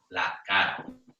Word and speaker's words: la cara: And remember that the R is very soft. So especially if you have quite a strong accent and you tend to roll your R's, it's a good idea to make that R sound quite light.